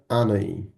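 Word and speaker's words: Hanói: ভিয়েতনামে এটা বলছে হচ্ছে আনই। কি বলছে? আনই। হই কেউ বলতে যাবেন না। কিন্তু হার কোন উচ্চারণই হবে না। পর্তুগিজে এইগার কোন শব্দের উচ্চারণ নাই। এইচ এর কোন উচ্চারণই নাই।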